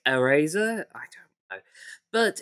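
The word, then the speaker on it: Airazor: we've also got uh eraser i believe it's how it's pronounced a i r a z-o-r so it's eraser i don't know but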